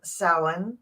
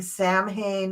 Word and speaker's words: Samhain: so Gerald and I are here discussing um sin and that is how you pronounce it is sa um I you you're perfectly welcome to go ahead and keep saying Sam Hayne or samah Hayne but it's not how it's pronounced not in